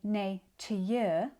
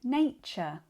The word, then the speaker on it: nature: We don't say natye. We say nature.